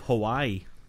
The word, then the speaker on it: Hawaii: hawaii because everyone says hawaii but really if there's a w within the actual name they just cut it in half you just you pronounce you pronounce w as a v exactly but but if